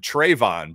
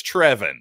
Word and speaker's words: Trevin: actually trevin brazil and i believe i've previously months ago called him trayvon brazil but i'm pretty sure it's trevin at least if we can trust anton brookshire's pronunciation of his name but trevin brazil a